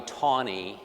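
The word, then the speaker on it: Taney: Um, and so, uh, that was by Roger B. Tonyie is how he pronounced his name. There is a county in Missouri named after him, and I don't know why they now insist on mispronouncing his name, but Teny County, Missouri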